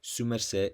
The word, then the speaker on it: sumercé: bogota in certain environments sumerseh is sometimes written separate su merce but is always pronounced together and the d is lost in speech like in uste this is because the